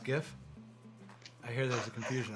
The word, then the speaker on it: Jif: It's Jif. Oh, The Jif. right answer is Jif. You sure it's not pronounced GIF?